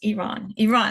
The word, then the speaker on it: Iran: I used to say Iran. I was like, no, it's Iran. That's Iran.